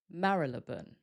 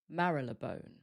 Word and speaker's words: Marylebone: For this one, instead of Marylebone, there are a couple of different ways that we pronounce it. They're quite similar, but a little different. The first way is Marylebone, Marylebone, or Marylebone, Marylebone.